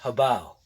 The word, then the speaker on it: HoBao: Yeah, it's actually pronounced HoBao.